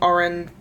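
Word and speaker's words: Auren: You're reading Oren, I think that's how you say her name. It's A-U-R-E-N.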